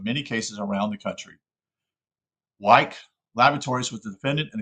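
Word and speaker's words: Wyeth: Wyke Laboratories was the defendant in a case in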